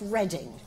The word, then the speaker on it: Reading: the University of Reading that's how it's spelt but it's pronounced reading which confuses people hugely